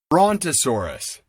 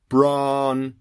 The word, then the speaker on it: Brontosaurus: Brontosaurus. Now, there's a big name. Brontosaurus. That's 4 beats. Technically speaking, that's 4 syllables.